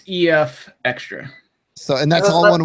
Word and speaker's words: EFXtra: Well, it's like extra, but it's EFXtra. So, and that's all one word. That's the gag of it. We give it's the EFX with extra. Yeah. EFXtra.